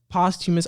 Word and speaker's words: posthumous: Unfortunately, but posthumous albums, posthumous. Okay, I was saying it wrong.